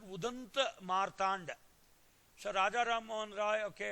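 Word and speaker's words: उदन्त मार्तण्ड: Then Hindi Weekly, Odunta Martand also was started. See, Odanta, see here, this is written in Bengali. Actually, it should be pronounced Udanta Martand.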